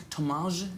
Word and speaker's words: Thomaz: Is it Thomaz? Am I saying it right? Thomaz, because it's got a Z at the end there.